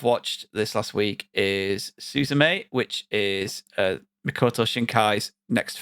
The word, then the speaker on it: Suzume: Is it not Suzume? Suzume? No, it's because the little creature in it calls her. It goes Suzume.